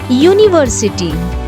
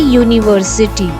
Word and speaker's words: university: Like university, uniform. So here in these words it begins with vowel U, but it makes consonant sound, y sound.